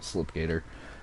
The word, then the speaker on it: SL1PG8R: I think it's like an SL1PG8R, but he pronounces it Slipgator.